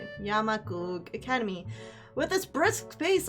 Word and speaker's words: Yamaku: Yamaku Academy.